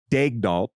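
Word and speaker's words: Daigneault: a press release where they said it's Mark dagdoll and then if you just Google how to pronounce Mark dagnoll it's different it's a French pronunciation it's a great one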